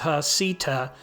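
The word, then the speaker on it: Heceta: on the Pacific coast pronounced Hita this Lighthouse gains its name from the Spanish Navigator Bruno D Hita who surveyed the Oregon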